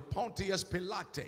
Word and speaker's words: Pontius Pilate: That while Jesus was coming in from the west to Jerusalem, Pontius Pilate, or as it is pronounced properly, Pontius Pilate, he was Italian.